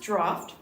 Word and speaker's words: Draught: And it's pronounced Draught. I was about to not say, draft.